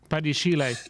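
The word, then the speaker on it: Badiashile: And when I look at Chelsea, players I look out for, funny enough, I like the look of Badishila. Is that how you say his name? Badishile.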